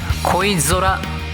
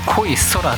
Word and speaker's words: 恋空: 恋空、恋するに空と書い